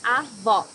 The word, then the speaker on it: avó: Here you need to hear the sound of the last O in the syllable. It should be an open O, as we say in Portuguese. Avó.